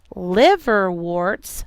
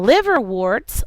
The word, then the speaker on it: liverworts: And liverworts looks like this. Liverworts is L-I-V-E-R-W-O-R-T-S, just like you would think of liver and warts, but it's spelled a little different.